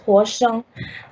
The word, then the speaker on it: Hua Zhang: My name is Hua Zhang, ethnically pronounced Hua Zhang.